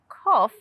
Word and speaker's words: cough: use for feeding animals did you notice cough and trough have the same sound off anyway next time i